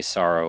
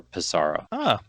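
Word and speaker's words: Psaro: And depending on which character you pick, they're either going to say Sorrow or Pizarro. So it is kind of it's debatable. You could pronounce it however you want. I like Sorrow because it sounds like the word sorrow, like SARROW.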